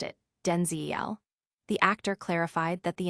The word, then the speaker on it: Denzel: So she said, "From now on, you're Denzel Denzel," he recalled, emphasizing the distinct vowel sound that differentiated him from his father, whose pronunciation was Denzel.